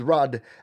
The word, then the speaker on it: Rudd: Thank you for telling me that Rudd rhymes with mud. You know my reputation there for mispronouncing things, so thank you, Denise. This is Rudd and Jay.